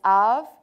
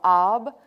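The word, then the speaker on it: אב: So if we were to take the word, for example, and some will pronounce this av or ab, which is simply father.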